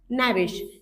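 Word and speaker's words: knavish: तो फिलहाल हमारा वर्ड क्या है, नेविश। के साइलेंट जाएगा।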